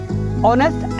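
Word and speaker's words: honest: ऑनेस्ट एच से ही शुरू होता है। लेकिन फोनेटिक्स में उसका उच्चारण यानी प्रोनंसिएशन ओ से होता है।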